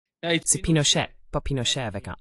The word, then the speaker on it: Pinochet: Vous voyez à la Pinochet. Comment dit-on ça au Brésil ? On dit Pinochet ou Pinochet ? Pinochet. Pinochet avec un A. Oui, on m'a déjà dit que c'était Pinochet. C'est Pinochet pas Pinochet avec un A.